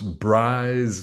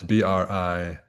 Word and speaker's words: Brize: Royal Air Force Bryce Norton in Oxfordshire. Ox needs no comment. It is a large um, livestock. Bryce, Brize, is very close to braise, which sometimes is spelled Braze, which is a verb for cooking.